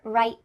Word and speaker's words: right: Let me give you a quick example. How about the word right? Did you hear right? Nope. Instead, when I said that final T, my tongue was stopped at the top of my mouth. That's why we call it a stopped T.